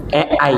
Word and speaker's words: AI: Itu namanya Ei, Bu. Tulisannya A i. Ai. Bahasa Inggris dibacanya e I.